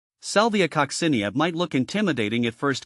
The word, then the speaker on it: Salvia coccinea: a sound cinia kosia the emphasis shifts to the second syllable here the the co is